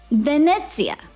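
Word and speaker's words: Venezia: Fente, Venetsia, Roma.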